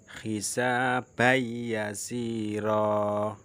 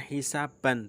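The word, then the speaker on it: حِسَابًا يَسِيرًا: Hisabai yasiro. Nah, itu adalah tanwin bertemu dengan ya. Hisabai. Nah, bukan hisaban tapi hisabai. Bacanya mendengung.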